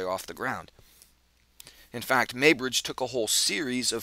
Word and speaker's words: Muybridge: That's actually spelled M-U-Y-B-R-I-D. GE, but I believe it's pronounced Muybridge, Edward Muybridge.